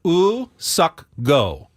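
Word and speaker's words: Woo-suk Go: did eventually sign uh the South Korean reliever us sucko is what they um the Padres said was the pronunciate correct pronunciation of their new relievers name in the release say it again ooh sucko his first name his given name is US suck and then his family name is go suck go that was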